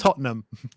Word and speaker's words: Tottenham: Tottenham it is it's spelled Tottenham but it's pronounced Tottenham okay Tottenham that's correct full agreement or The